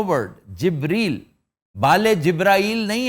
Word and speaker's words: जिब्रील: हाँ जी, तो अक्सर इसको जिब्रील भी कहते हैं। इट is actually जिब्रील। जी sir. Jibrail is a miss pronunciation.